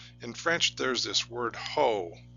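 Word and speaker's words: haut: French there's this word ho it's pronounced ho o uh the T at the end is silent and it means high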